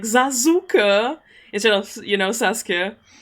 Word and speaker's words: Sasuke: So in the very old German Naruto dub, they don't call him Sasuke, they call him Zazuka. They just pronounce all the letters.